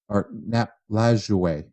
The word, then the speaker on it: Lajoie: Nap Lajoie, who some people might know, or Nap Lajoie.